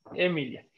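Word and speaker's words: Aemilia: mel y emilio díaz emiliano recuerden que la aee se une y se dice es que al menos en la pronunciación eclesiástica o itálica emilia emilia y si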